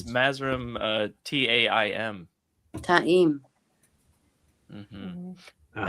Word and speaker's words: Taim: How do you have pronounce questions. Mazrim? Taim.